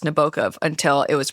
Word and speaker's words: Nabokov: We are talking about Humbert Humbert, the protagonist of the 1955 novel Lolita by Vladimir Nabokov or Nabokov is the correct pronunciation, but You can say whatever.